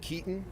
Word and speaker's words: Keeton: My name is Keaton. Last name is spelled Keeton.